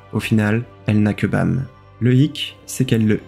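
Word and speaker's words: 밤: En coréen, la nuit se prononce Bam, et violet peut être interprété comme étoile.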